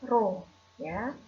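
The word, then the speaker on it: ρ: dengan seperti ini ya seperti huruf P nah ini dibacanya rohnya apa sih massa jenis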